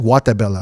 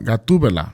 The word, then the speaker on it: Gatubela: Am I pronouncing it? Guatemala. No, Gatubela.